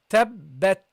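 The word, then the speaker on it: تبت: There should be air coming out after from your mouth at the end of the pronunciation of the ta. Okay, this is one of the attributes of the ta, and it should be there. Okay, it's not allowed to leave it away.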